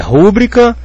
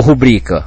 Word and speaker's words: rubrica: Como é que eu vou saber, por exemplo, aqui se é rubbrica ou rubrica? Se fosse rúbrica, ela seria próparoxito, não concorda? Rúbrica. teria que ter acento, mas a gente vê escrito por aí sem acento nos textos de quem sabe escrever.